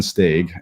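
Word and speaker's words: Stage: Stag, we're now calling him Yan Stag as in accordance with the Danish pronunciation uh is almost out with with muscular problems.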